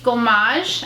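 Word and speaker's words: gommage: truffle face truffle therapy face Gamache that's how you say it so this is what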